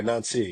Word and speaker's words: Nancy: Is it uh how do you pronounce it? Ni. Yeah, Nancy.